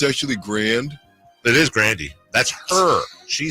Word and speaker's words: Grande: It is Grandy. That's her. She says it. Look it up. I'm not Ariana joking. Grande. She says Grandy. She said the pronunciation's Grandy.